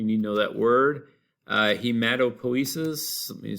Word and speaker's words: Hematopoiesis: Hematopoiesis, let me spell it real quick. Hematopoiesis. All right, P-O-I is po, and then esis.